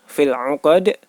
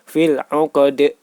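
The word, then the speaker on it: في العقد: Cara membacanya yaitu dipantulkan. seperti bunyi huruf E atau E, fil 'uqad.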